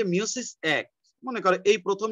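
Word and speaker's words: meiosis: আরে আল্লাহ এই গরুটা আবার মেসেজ দিছে স্যার মিওসিস না মায়োসিস তোর কল্লা তোর মাথা ছাগল কোথাকার মিওসিস না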